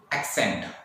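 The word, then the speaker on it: accent: So next आता है हमारा एक्सेंट। अगेन मैंने बताया ACC, एक्, आधा का और शाह, एक्सेंट।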